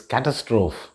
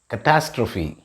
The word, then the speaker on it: catastrophe: to pronounce this as catastrophe but the right pronunciation of this word is catastrophe it rhymes with apostrophe catastrophe means an event